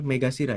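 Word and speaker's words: 目頭: Ini bacanya megasira ya.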